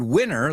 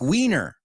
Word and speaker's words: winner: And don't pronounce the word winner like wiener.